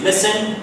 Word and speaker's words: listen: listen and remember uh the word listen uh T is silent okay so the pronunciation is listen and we also have